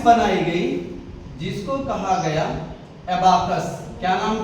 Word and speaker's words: एबाकस: गई जिसको कहा गया एबाकस। क्या नाम था? एबाकस या अबाकस कह सकते हो, लेकिन पढ़ने में थोड़ा अच्छा नहीं लगेगा, तो एबाकस, ठीक। हाँ, एबाकस, एबाकस, एबाकस।